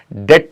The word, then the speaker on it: debt: सबसे पहले हम लोग डिस्कस करेंगे, यहाँ वर्ड है हमारे सामने DEVT, जिसको आप डेप्ट भी कहते हैं, कर्ज भी कहते हैं। अक्सर आप डेप्ट ही पढ़ते रहते हैं। इसमें हमें जो बी जो लेटर है वो साइलेंट होता है, हमें इसके बारे में बताया ही नहीं गया। असल में इसको हम डेट बोलते हैं। दैट मीन यहाँ पे बी जो हमारा लेटर है वो साइलेंट रहता है।